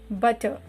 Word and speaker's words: butter: Butter. R is a silent letter. The words which end with R will sound butter, paper, wrapper.